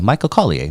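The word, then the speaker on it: Michael Colyar: Michael Collier.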